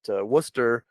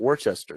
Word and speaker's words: Worcester: then again i also my first night at worcester i told everyone everyone i'm happy to be here at worchester so i've i've struggled with the message he